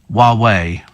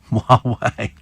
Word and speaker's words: Huawei: Huawei, says Raj, is pronounced Huawei. Huawei.